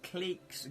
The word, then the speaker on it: Cleek: Cleek's Guide to Carnane Mastery. That's how you pronounce it. Cleeks. Like leeks, I guess it is.